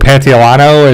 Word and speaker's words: Pantoliano: So Joel had to evidently kill this guy for some reason, and I think it's Joe Pantoliano is how you say his name.